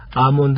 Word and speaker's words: almond: 아몬드 할 때 L자는 발음이 되지 않습니다.